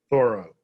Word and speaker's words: Thoreau: very familiar with as we're supposed to pronounce his name thorough and what i really